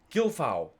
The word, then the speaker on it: Gilfau: Kevin Gilfu, thanks for your question. I know, Kevin, you told me how to pronounce it. Gilfau.